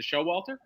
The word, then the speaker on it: Showalter: right or wrong, but your last name is it Showalter? Yes, perfect. Exactly as it's spelled, which I love.